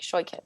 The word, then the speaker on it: Shoichet: least once sh I I like to tell people it's sort of like it sort of like it rhymes with with toy kit like if you had a kit full of toys like shy kit it yeah there